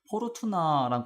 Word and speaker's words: 포르투나: 제가 사용하던 거는 아예 여기 메뉴에서 포르투나랑 관련된 옵션 자체가 있어가지고 그걸로 사용을 했었거든요. 근데 여기서는 이렇게 나오네요. 네, 알려주셔서 감사합니다. 여기 보시면은 랏 오브 포르춘 이제 포르투나라고 읽고요.